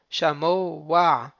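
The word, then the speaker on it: שָׁמֹעַ: Donc, on va faire comme s'il y avait un vav. Shamo wa.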